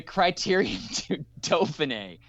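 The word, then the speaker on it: Critérium du Dauphiné: There was a stage race this week, the Criterium du Dauphiné. Did I say it right? Nailed Evan? the pronunciation.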